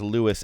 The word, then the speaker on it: Louis: Le Armstrong pronounced his own name as Lewis.